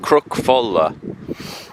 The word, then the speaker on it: Cnoc Folla: It's pronounced crook folla and it's on the corner the top corner.